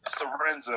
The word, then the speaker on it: Lorenzo: thank you thank you lorenzo i believe that's how you pronounce it is it a arenza yeah it's lorenzo my name came from